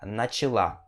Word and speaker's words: начала: A no final e você vai pronunciar начала, ok? Начала. E esse A ele vai ter som de I, tá? Se você for mulher, nesse caso. Então você fala assim, ó, Я начала изучать русский язык. Eu comecei a estudar a língua russa. E a sílaba tônica vem aqui nesse último A, tá bom?